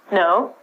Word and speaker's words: know: W is also silent so instead of saying canal or Kino World War we just say no we use this like